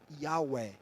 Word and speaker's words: Yahweh: Alguns atribuem a pronúncia antiga do nome, ela se perdeu com os cativeiros, com a longevidade da história, e ela se perdeu. Então, alguns atribuem que seria talvez como algo como Yahweh, né?